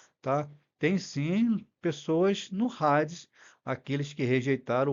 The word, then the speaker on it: Hades: Nessa sílaba, que faz ela ficar mais forte. Então, os irmãos sabem agora que não é Hades, mas é Hades o Hades aqui ele tem o som da partilha Hades, tá?